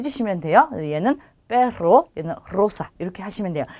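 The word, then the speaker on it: rosa: 단어의 첫 글자에 왔기 때문에 로사가 아니라 로사 이렇게 굴려주셔야 돼요.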